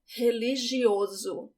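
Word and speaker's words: religioso: front of an eye religiosu and the s when you have one s between two vowels it sounds like a z when they are it's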